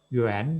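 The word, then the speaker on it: 园: Yuan, bacanya jangan salah ya, Yuan adalah di sheng. Kalau kemarin yuan di sheng yuan, ini yuan di sheng ya.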